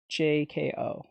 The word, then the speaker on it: Droujko: It's spelled Droujko. That's why I can't say it right. The J is throwing me off. It's a JKO. It's Droujko.